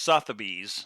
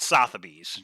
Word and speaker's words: Sotheby's: Anna Graham wants us to know it's pronounced Sotheby's, not Sotheby's.